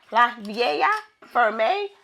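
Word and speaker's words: La Vieille Ferme: You don't pronounce the L's. Get that together. La Vaa Ferme Lubberon Blanc of 2024.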